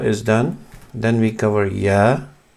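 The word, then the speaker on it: ي: English equivalent letter, but when you say ya, yes, that's the y part, ya, and that comes with the clenched teeth, y, ya. That's how the name is pronounced of this letter, ya, and the sound is just y.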